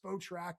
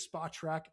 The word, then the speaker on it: Spotrac: I always used to think it was Spotrack or Spot Rack, but I believe it is Spot Track.